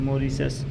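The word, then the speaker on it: Mauritius: पढ़ते हैं ठीक है इसको आप मोरिसस बोलेंगे तब भी सही है हमारे हिसाब से मोरिसस मांसी रस य भी मोरिसस आप बोलिएगा सबसे बेस्ट रहेगा मोरिसस इसका उच्चारण सही है दप एक ही अक्षांश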